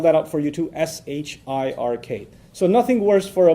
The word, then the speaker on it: shirk: I'll spell that out for you too, S-H-I-R-K. So nothing worse for a Muslim, from his faith perspective, nothing worse than shirk. S-H-I-R-K. Sounds like Shrek, so that's easy to remember, right?